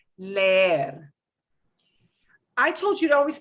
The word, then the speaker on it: leer: It would be creer, leer. No, it's leer, creer.